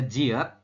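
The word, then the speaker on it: 지읒: Itu adalah jiet. Ya, di awal J, di akhir berbunyi T, seperti itu.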